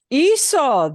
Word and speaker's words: hizo: Hizo, the C turns into a Z.